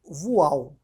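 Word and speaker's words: voile: compra um tecido chamado voal. Voal, se escreve V-O-I-L.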